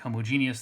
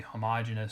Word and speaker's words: homogeneous: me it seems like half of the people talking about this topic will say homogeneous the other half will say homogeneous so i'm just going to say either pronunciation is okay and let's not get